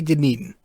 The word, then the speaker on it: Dunedin: we had with the yankees i uh completely butchered it i did not say dunedin i did not say dunedin i'm not going